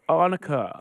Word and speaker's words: Annika: I think it's the accent, but Annika.